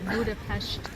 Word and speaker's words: Budapest: They pronounce that Budapestt. Budapestt. Budapest. Pesh. Like a sh.